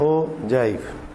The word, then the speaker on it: ogive: Most commonly use graphs are histogram, frequency polygon और cumulative frequency graph और ओजाइव, pronounced as ओजाइव.